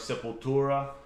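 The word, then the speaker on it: Sepultura: Um, and uh, anybody who knows Max, former uh, band member of Simple Tura, why' you say it like that?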